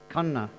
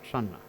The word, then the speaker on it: Channa: the Sinhala name Kanea, because the Dutch wrote the K sound as CH. So when they intended it to be pronounced as Kanna and not Channa.